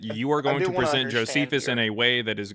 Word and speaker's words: Josephus: I've literally heard people try to say Joe feces, which is insane.